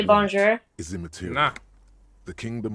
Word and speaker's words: bonjour: Bonjour. Only very slowly. Drop the R off a little more, but you're close.